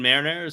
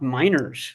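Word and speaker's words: Meinerz: uh right guard Quinn Marin or Marines whatever he looked fantastic in the one-on-one drill just fantastic I think he's a pro bowler right he's his last name is pronounced miners which minor there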